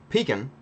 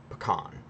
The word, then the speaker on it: pecan: So, pecan is a southern saying. Pecan is more of a northeast, mid-Atlantic, Bailey, pronunciation of pecan. But then, you go out west and it's pecan, not pecan.